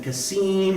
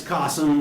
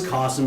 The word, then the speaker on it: Qasim: I'm like, no, it's Qasim, like Ka and Sum, or K-awesome, right? If I want to impress them. Or I can be like, oh, it's Cossum, it rhymes with possum, right, if I want to sound cute.